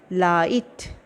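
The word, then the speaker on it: light: जैसे देखो एल आई जी एच टी, लाइट, जी एच नहीं पढ़ेंगे, एल I direct T, लाइट।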